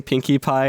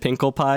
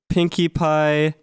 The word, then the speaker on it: Pinkie Pie: And then basically, long story short, they ended up like mispronouncing Pinkie Pie, and they said Pinkle Pie, and I thought that was really funny.